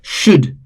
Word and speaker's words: should: Should, again L is silent.